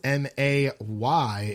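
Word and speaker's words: Mae: It's not spelled M-A-Y, it's spelled M-A-E. So I think they took more of the inspiration from Justin Timberlake, May.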